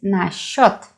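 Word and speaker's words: насчёт: used in everyday Russian pay attention to the pronunciation so it is sh sound instead of it is we have your that is always stressed yeah so nice shot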